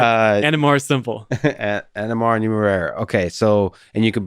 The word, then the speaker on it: Numeraire: say nmr it is it is technically called numero numero i like it yeah but uh and more simple nmr numero okay so and you